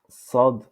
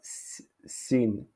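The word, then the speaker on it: صاد: Sad. Donc, cette lettre en arabe prononce sad. Sad. C'est pas sin. C'est pas sin. C'est pas shin. C'est sad. Sad.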